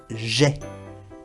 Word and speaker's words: j'ai: Entonces, aquí se pronuncia j'ai. J'ai. Y el verbo ai, que es tengo, se pronuncia e, la boca bien abierta.